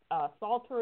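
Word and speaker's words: Psalter: map is from 1265 it's Salter is spelt PSAL ter ok you pull up this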